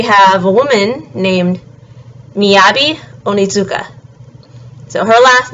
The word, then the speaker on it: Onitsuka: last name is uh contains a TSU which is a sound and it sounds a little bit like Zoo but it's slightly different um so again Miyabi onitsuka and then snowboard across